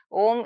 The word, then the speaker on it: Om: pronunciation isn't it yes Om if I to say there is one way is u m so you have to say o then u then like that uh but that is